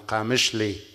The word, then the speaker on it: Qamishli: That's my hometown, Qamishli. Thank you for the presentation, but the city was not pronounced correct.